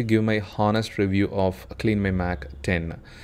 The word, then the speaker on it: CleanMyMac X: In this video, I like to give my honest review of CleanMyMac 10. It is actually 10, it is not X.